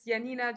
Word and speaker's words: Janina: welcome to the Insiders Janina is that how I pronounce it yeah it's Yanina Janina however you want to say okay so my name's